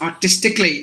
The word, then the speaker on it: artistically: will always be silent so you have to say like this artistically because A's are silent any word ends with c a l l y the a must be silent so automatically basically categorically